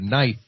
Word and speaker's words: knife: And uh and because of the French it the k became silent and the i instead of being e became I.